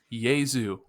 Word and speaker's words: Jesu: picked it last week so i'm going to pronounce it right right right now uh it's jesus by the band yay zoo i mean to be clear the the band